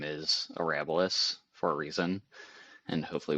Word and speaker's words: Arabilis: So is it Arabilis? Yep. Oh, you nailed it. So not many people do, but we answer to a lot of it. But yeah, Arabilis is how we've been pronunciating it, and it's from the Latin word